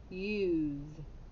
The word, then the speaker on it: use: what sound is that the z that's right and is the e silent yes it is use okay let's trace to